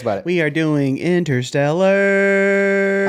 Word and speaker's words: Interstellar: it we are doing inter Stellar I'm glad you said Interstellar instead of interstellar cuz I've heard people say it like that I'm like but there's a t just like sometimes wait